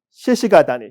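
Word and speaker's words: 鹿ケ谷: 여기서 어느 산 속에 있는 별장인데 거기가 어디냐면 시시가다니. 여러분 이 사슴 녹자는 보통은 시카라고 읽는데 여기는 특별한 읽기입니다.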